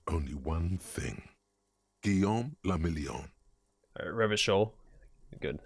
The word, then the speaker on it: Revachol: Revachol. Good. I know how to pronounce the city now. If it doesn't rhyme, you're not pronouncing it right.